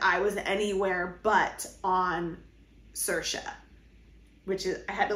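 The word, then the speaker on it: Saoirse: my mind that I was anywhere but on Sasha which is I had to look up how to say it because it doesn't look like that's how you say it I had to Google Translate pronunciate and Sasha is how you say the island's name that's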